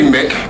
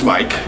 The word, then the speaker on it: Mic: My name is Mike. Most people say Mick because it's spelled M-I-C. It's Mike.